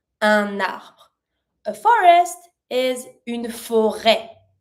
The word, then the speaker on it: un arbre: And you connect it cuz it starts with a vowel, un arbre.